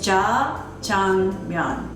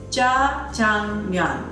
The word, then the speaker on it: Jjajangmyeon: It's Jjajangmyeon. Ja, J-A, Jang, J-A-N-G, Myeon, M-Y-E-O-N. Jjajangmyeon. Jjajangmyeon.